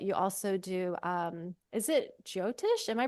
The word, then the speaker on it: Jyotish: Chinese medicine, but you also do is it Jyotish? Am I pronouncing it Yeah, right? you are. Yeah. Mhm. Jyotish astrology, which I had a session with you late last year, I believe.